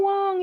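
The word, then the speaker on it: Wang: Hello to Michelle Wong. If you like high-end makeup reviews, go check out Michelle Wong. W-A-N-G, though, is her last name, but it's pronounced Wong.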